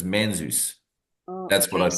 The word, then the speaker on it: Manzoi: And then Manzois. Which actually I think is pronounced Manzus Oh, okay. because it's basically Zeus is the middle name of Dr. Zeus, and it comes from that.